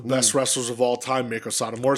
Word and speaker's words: Meiko Satomura: Wade Barrett was like tribute to one of the best wrestlers of all time, Meiko Satomura, said it right on commentary.